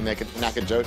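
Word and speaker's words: Nacogdoches: to go no chews i bet the g is silent i bet you even said like let's throw a g in there but let's not let's not be able to hear it so it's probably naked naka joke nakadochis are you bloody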